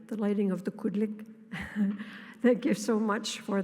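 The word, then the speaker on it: qulliq: And I want to say this just so for once it's pronounced correctly, the lighting of the Kudlik.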